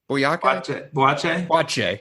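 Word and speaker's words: Boakye: Boyake? We didn't practice. Boake? Boache.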